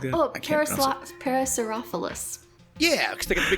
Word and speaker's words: Parasaurolophus: I can't pronounce the actual dinosaur name. It's a very long one. It's Saurolophus? Something like that? Parasaurolophus.